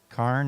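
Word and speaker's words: Carne: K is spelled C A R N E.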